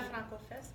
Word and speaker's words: FrancoFest: Est-ce que je le prononce comme il faut? Alors, à la FrancoFest, oui.